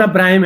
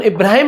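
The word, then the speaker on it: Abraham: यहाँ पे क्या है, अब्राहम है। जैसे कि अब जॉन अब्राहिम है, क्या है, जॉन अब्राहिम है। जॉन इब्राहिम नहीं है, जॉन अब्राहम है।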